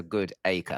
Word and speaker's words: Goodacre: good acre like they'll stress the acre bit like like you know the origin is it's a good acre like a good acre of land.